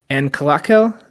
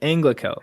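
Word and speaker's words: Anglachel: But he asks for a sword, a great sword named uh Anal. Is that how you say it? Anglicel. Anglicel. Yeah. Sorry. Anglicel.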